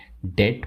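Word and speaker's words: debt: और बात बताना चाहूंगा यहां पे जो बी है वो साइलेंट होता है इसलिए हम इसे डेट प्रोनाउंस करते हैं चुप रहने के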